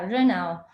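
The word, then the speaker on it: 热闹: Incluso en chino existe un término que se pronuncia renao, que significa algo así como ocupado, ruidoso, lleno de gente, pero con una referencia totalmente positiva, ¿no?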